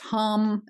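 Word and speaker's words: Ham: that is and this one is pronounced hum is in humming and it awakens your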